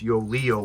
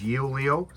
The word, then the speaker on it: Yoeleo: Does it embarrass you that your master and subservient human cannot pronounce yolo Leo and always says yol Leo?